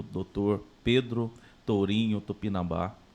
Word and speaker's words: Tupinambá: Pedro Tourinho Tupinambá. Eu até pronunciei errado e coloquei errado, na verdade, anteriormente. Coloquei Tupinambás.